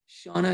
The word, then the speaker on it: Shauna: Shauna, is that how you pronounce it?